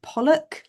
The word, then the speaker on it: Pollock: Today I am joined by the very beautiful Polly Pollock. Let me please tell me I'm u pronouncing your surname correctly. You got you got it right. Yeah. Pollock.